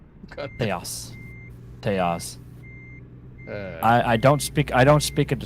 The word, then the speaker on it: Tejas: And Texas is pronounced Tejas. Tejas.